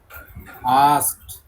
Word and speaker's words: asked: আস্কড। AKSED নয়, ASKED তো।